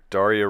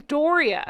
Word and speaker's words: Doria: Meghan's mother, Daria Ragland. And Oh, they spelled her name wrong. did they? They spelled her name wrong. Her name's Doria. Doria.